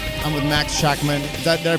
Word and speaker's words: Schachman: I'm with Max Hackman that there pronounce it correctly yes right how do you